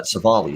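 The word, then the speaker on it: Civale: cleveland detroit uh aaron savale uh taking on tariq skubal for the detroit tigers uh we've got uh uh savali is actually how you say it in english uh but minus 140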